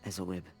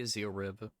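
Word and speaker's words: Ezylryb: I say Ezelrib, because that's how I pronounce it in my mind. They say Ezelrib.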